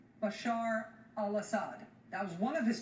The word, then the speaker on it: Bashar al-Assad: and peaceful Syria with Bashar al-Assad in charge. Bashar al-Assad, I know you mispronounced his name a few times, but it's Bashar al-Assad. Bashar al-Assir was the attempt there.